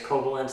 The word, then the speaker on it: Coblentz: I met Glenn, I think it's Koblenz, this is how you pronounce it, who works for Weaver Tool Gear.